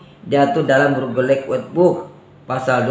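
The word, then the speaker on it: Burgerlijk: Dalam ejaan Belanda kalau ICK itu dibaca eik ya.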